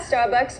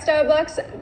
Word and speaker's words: Starbucks: logo that they have the word is not pronounced Starbucks Starbucks we need to make the r sound and say star starbu bcks how do we make this R sound take your tongue and pull it back so the back of